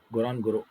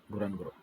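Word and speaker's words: Ngorongoro: ವಾಲ್ಕನಿಕ್ ಇದನ್ನು ಕೇಳ್ಬಿಡ್ತಾರೆ ಎಕ್ಸಾಮಲ್ಲಿ, ಗೊರಾನ್ಗೊರೋ ಅಂತೇಳಿ ಉಚ್ಚಾರಣೆ ಮಾಡ್ಬೇಕು ಇದನ್ನು. ಇದು ಸೈಲೆಂಟ್, ಇದು ಗೊರಾನ್ಗೊರೋ.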